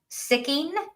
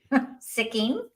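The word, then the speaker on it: Sikking: sure and bring them on so if I'm pronouncing this right James sicking s i k k i n g sicking okay he uh memoriable he memorably starred as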